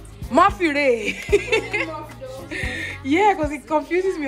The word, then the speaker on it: Morphe: Please, is this pronounced Morph or Morphe? Morphe Ray.